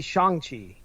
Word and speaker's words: Shang-Chi: It's supposed to be Shang-Chi.